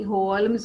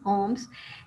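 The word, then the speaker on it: Holmes: होम्स, एल इसमें silent है, अभी हमने इसकी प्रोनाउंसिएशन देखी, होल्म्स नहीं, होम्स, has been presumed dead and Watson has moved on his with his wife.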